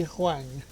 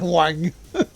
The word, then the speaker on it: Huang: Wang is pronounced Wong.